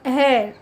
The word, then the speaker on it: heir: S T, honest, H E I R, तो hair.